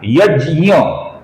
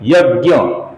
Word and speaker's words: यज्ञ: अर्थात यह जो पहला नाम है दोस्तों ये संस्कृत के अनुसार क्या है? यज्ञ लेकिन हिंदी में हम इसे क्या बोलते हैं? यज्ञ।